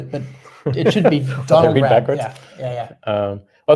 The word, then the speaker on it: Raab: I always have to say it's like the Saab.